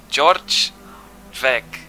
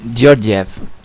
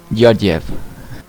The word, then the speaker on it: Georgiev: George Vec, I think it's how it's pronounced, I'm sorry, is 5th, 1:11.051, and Hugo Silva I believe it's Georgiev. Yeah, you don't read the J's. Georgiev.